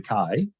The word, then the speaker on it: chi: it's pronounced Christ and the Greek letter that makes the k sound is written as an X and it's called a Kai and the Greek letter